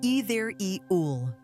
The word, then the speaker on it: ethereal: Have you ever heard the word ethereal? It sounds fancy, doesn't it? But don't let that scare you. It's pronounced like either-e-ul.